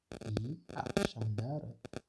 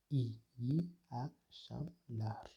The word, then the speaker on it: iyi akşamlar: İyi akşamlar, qui signifie bonsoir. Cela se prononce de la sorte iyi akşamlar.